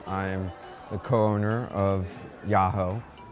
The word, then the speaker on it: Jaho: am a co-owner of yahoo it's spelled with the j but pronounced yahoo it's do a lot